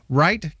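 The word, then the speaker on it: Reith: is it captain rita right correct w-r-i-g-h-t correct well it's r-e-i-t-h but it's pronounced left or right okay all right german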